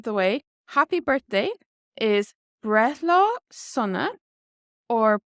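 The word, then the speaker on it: Breithlá sona: But now that we've got the disclaimer out of the way, happy birthday is Brethla Sunna or Brethla Hunna.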